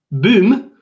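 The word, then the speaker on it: Boum: Boom, pronounced boom, is a B-O-U-M, boom, is a popular French classic sung by whom?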